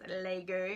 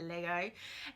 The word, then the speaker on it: Lego: in adelaide australia where we believe it's pronounced lego and not lego and on this channel